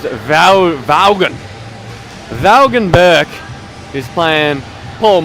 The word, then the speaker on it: Vaughan: Vaughn. Well, I'd call him Vaughn because apparently that's what his name is, but clearly it's actually pronounced Vaughan.